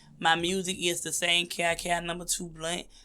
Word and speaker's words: KiKi2Blunt: My music is the same, KiKi2Blunt. I say it like that because people hear Kiki, they hear Keke, and I'm like, nah, baby, it's KiKi.